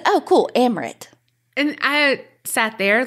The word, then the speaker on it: Amrit: Or as Carrie likes to say, Amrit. After she told me it rhymes with omelet. Mm-hmm. And I said, oh, cool, Amrit.